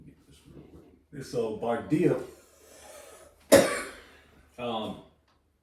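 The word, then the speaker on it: Bardiya: It's Bardaya. Popping up Britney Spears and shit. Or type in Smears. I got it. I got it. Let me get this real quick. So Bardia.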